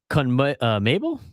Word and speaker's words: CONMEBOL: They qualified 6th in the CONMEBOL?